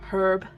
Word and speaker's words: herb: Oh, herb. Herb. I always say, if there's one word I hate the pronunciation of in American English, it's herb. Where does the H go? Herb, not herb.